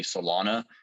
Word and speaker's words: Celona: are companies that are professional, like the company Solana.